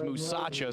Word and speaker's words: Musasha: Make sure you say his name right. It is Musasha, so we've taken note,